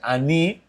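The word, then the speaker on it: אני: o o pastor bom em hebraico fica assim ani para quem não sabe essa essa pronúncia ani é eu sou ani ou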